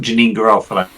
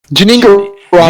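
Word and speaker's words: Janeane Garofalo: got Janine Garofalo in it. I can't say her name. Janine. Janine Garofalo.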